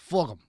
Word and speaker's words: Fulgham: Fullgum. Fulgham. That's how you pronounce Fulgham.